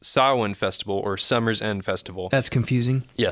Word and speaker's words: Samhain: celebrate what they called, it's spelled Samhain, but pronounced Samhain Festival or Summer's End Festival.